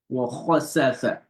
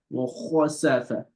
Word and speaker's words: وَخَسَفَ: You see, when you pronounce the kha, you feeling something in your throat, right? So the back of the tongue is raised up to the roof of the mouth.